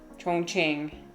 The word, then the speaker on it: Chongqing: I'm saying it correctly, and yeah, that is kind of what people say. But this is exactly how you're supposed to pronounce it, Chongqing.